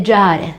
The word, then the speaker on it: Giarre: in provincia di Catania, dove la doppia R non la pronunciano. Il di sud è Giare, quella che gira si chiama Tera.